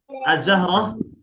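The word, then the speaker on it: ظَهْر: Ee harakat donnya itu fathah ya. Kalau d e huruf donnya domah zuhur itu jadinya waktu zuhur.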